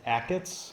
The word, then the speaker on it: Achatz: Is it For all those that are here, it is Achatz. It rhymes with packets.